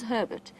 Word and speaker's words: Herbert: I've just heard exciting reports that Herbert has found, and it is Herbert, that is how he says his name, despite the slight miscommunication that has occurred within camp in terms of how to pronounce it.